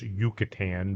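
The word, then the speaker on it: Yucatán: Well, it's Yucatan, but it's spelled Yucatan.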